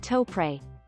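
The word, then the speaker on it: Topre: ultimate typing switch the topper switch pronounced toepre as it stands for tokyo press rarely appears in gaming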